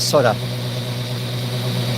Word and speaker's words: solder: I actually pronounce it solder with an L in there because it's spelled with an L. But I'm in the minority. Most people call it soda.